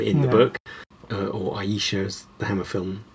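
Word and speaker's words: Ayesha: That's how it's spelled, but it's actually explained in the book that you pronounce there's a footnote that says Yeah. Asha, and I always remembered that.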